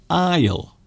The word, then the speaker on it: aisle: So this particular word, aisle. So the S is silent. We don't pronounce the S. Aisle.